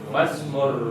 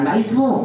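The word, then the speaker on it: ما اسم: Masmur rajuli. Bagus. Masmur rajuli. Ngarojali. Masmur rajuli. Namanya Siapa nama lelaki itu? betul. Bacanya masmu bukan maismu karena hamzah wasalnya di tengah.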